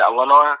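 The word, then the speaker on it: Elena: I like how Grant and Eleanor Cardone, that's yes.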